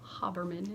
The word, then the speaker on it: Haberman: Haberman is how she pronounces it.